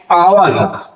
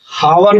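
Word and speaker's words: hour: है इसलिए एयर एन आवर तो ये यहां क्या है हावर नहीं पढ़ते आवर पढ़ते हैं एच साइलेंट है एन ऑनेस्ट एच साइलेंट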